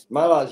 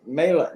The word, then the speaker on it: Mela: Well, Dennis, in all fairness, I used to pronounce it Mala too. Oh, okay. And then she corrected me.